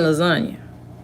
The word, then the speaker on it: lasagna: If the sea is silent, why is there? Like the G in lasagna.